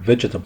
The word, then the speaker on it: vegetable: بعد الاستماع هنضع خط تحت الأصوات الفاولز المتحركة الغير مسموعة the silent vowels like the word vegetable زي كلمة vegetable. You can hear letter E in the middle or that E.